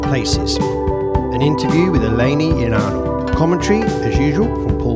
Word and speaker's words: Ioannou: My surname is pronounced Ioannou.